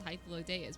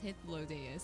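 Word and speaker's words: Hythlodaeus: name being pronounced so i always thought it was hyphalodeyus but it's his low day is and now i'm like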